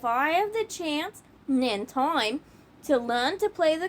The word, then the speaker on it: tai chi: Spelling, it's pronounced ti with a long i.